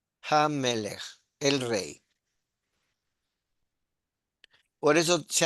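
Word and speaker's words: הַמֶּלֶךְ: Pero cuando está al principio, la G se pronuncia y es Hamelech.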